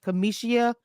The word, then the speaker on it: Cameshia: my name is Kamisha but my name is pronounced Kamisha I sto correcting people it takes I just